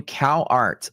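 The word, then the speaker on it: Cowart: Cow art. Like literally cow art. Like if you go to Google and make it two words.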